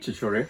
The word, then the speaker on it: Chhichhore: of the actual college where Chhichhore, am I pronouncing that correctly? Chhichhore, yeah.